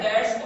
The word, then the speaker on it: debt: Dates लफ्ज है DEBT, डेट से बी यहां पे साइलेंट है, बी की आवाज नहीं आनी चाहिए।